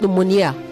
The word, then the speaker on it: pneumonia: Pneumonia, not pneumonia. Pneumonia. Okay, pneumonia. The stress is on the second syllable.